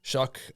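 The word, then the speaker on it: Shough: I don't know his Shuck is how he pronounces it. I don't know how because it doesn't look like, but Shuck. Um, and the Buccaneers are This looks like they're keeping what's his name?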